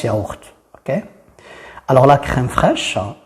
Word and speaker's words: yaourt: Attention, ça prononce pas, ça prononce yaourt, ok?